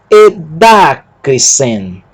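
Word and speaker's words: ἐδάκρυσεν: Y, delta, alfa. Eda. Kappa, rho, y, cri. Sigma, y, nu, sen. Edacrisen. Observando que aqui há a indicação da sílaba tônica.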